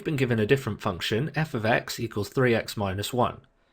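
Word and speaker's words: f(x): The left hand side, f brackets x, we usually pronounce as f ofx, which just means there's a function of x.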